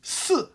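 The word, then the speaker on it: 四: C'est pourquoi les chinois n'aiment pas le chiffre "4" car il se prononce Sì - 4ème ton. Et "Mort" se prononce Sǐ - 3ème ton. La similitude entre ces 2 prononciations, couplée à de la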